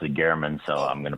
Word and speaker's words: German: Jeff German Jeff was um and and he pronounced it Gman so I'm going to pronounce it the way